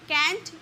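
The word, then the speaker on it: can't: वी कैन नॉट का contraction कांट का भी यूज़ कर सकते हो। कैंट या कांट दोनों इसकी प्रोनाउंसिएशन होती है।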